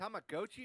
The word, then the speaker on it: Tamagotchi: So Tamagotchi Plaza and uh is it Tamagochi or Tamagotchi? I always get annoyed. Oh my goodness. It's always hard to tamagi. So in Japanese it's tamago chi because tamago is egg in Japanese and chi is like